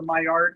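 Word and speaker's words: Maillard: this is called the my art reaction it's spelled like mallards like a duck but that's the reaction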